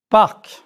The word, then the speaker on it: parc: However, 4 consonants are often pronounced at the ends of words. Prononcez, s'il vous plaît. Parc.